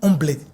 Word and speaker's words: Humblet: Alors, des fois, des problèmes de prononciation, là, ça se dit Omblé. Exact. Omblé. Omblé. Omblé.